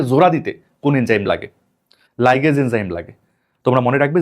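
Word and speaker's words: ligase: উত্তর হবে লাইগেজ enzyme. লাইগেজ এটাই উত্তর হবে। তবে এখানে আরেকটা সমস্যা আছে তোমাদেরকে বলি। দেখো এই লিগেজ এটাও কিন্তু লাইগেজেরই আরেকটা উচ্চারণ।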